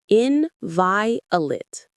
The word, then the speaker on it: inviolate: Inviolate. The stress is on the second syllable, that vi.